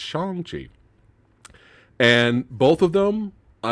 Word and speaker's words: Shang-Chi: shang chi excuse me i gotta say it correctly um i've been saying shang chi for years but it's shangji and both of them